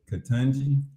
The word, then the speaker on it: Ketanji: Ketanji Brown Jackson.